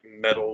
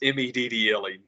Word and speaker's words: Meddle: It's very with the Pink Floyd had the album called Metal, like metal, Mhm. like Merkerbat. It's I always say it like Metal, but it's Meddle, metal, that kind of stuff.